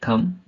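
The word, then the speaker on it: thumb: Example देखेंगे, सी ओ एम बी कॉम, बी ओ एम B Baum, T एच यू एम बी थम, डी यू एम बी डम, है ना।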